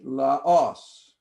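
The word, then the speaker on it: λαός: Laos, Now, even though we're not learning accent rules, we can pronounce correctly Laos, accent here.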